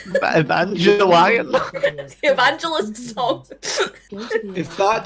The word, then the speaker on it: Evangelion: Evangelion.